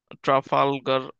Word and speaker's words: ট্রাফালগার: Truck ফেলারটা মানে এই যে ট্রাফালগার, ঠিক আছে, এটা অনেকে ভুল করে, ট্রাফালগার যুদ্ধ, এটা হচ্ছে ফ্রান্স ও স্পেনের মধ্যে, উচ্চারণটা মাঝে মাঝে ভুল হয় যে আমার, যদি দেখতেছিলাম আর কি, দেখছি ভুল।